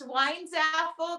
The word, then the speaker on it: Weinzapfel: It's Weinzapfel. The P is silent, and it means apple wine in German.